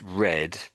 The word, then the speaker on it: read: I like how so this word here, that's read, so that puts it in the past tense, isn't it? But you can equally have read that in some written, you might possibly have read that as read. So it's read and read.